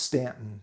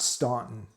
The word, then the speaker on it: Staunton: And it's pronounced Staunton, not Staunton.